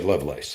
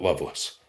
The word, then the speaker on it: Lovelace: You do say Lovelace. Okay, not Loveless.